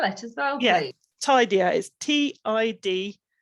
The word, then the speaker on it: TIDieR: the name of the checklist could you just spell it as well yeah tidier is t-i-d-i-e-r it's an acronym for something and